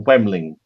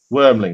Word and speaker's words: Wormling: A Wemnant. A Wemling. Wormling. Wormling, that's it.